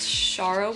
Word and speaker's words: Shara: last video you know i literally like had been pronouncing it as sarah the whole time in my head and then i realized it's not sarah anyways so yeah last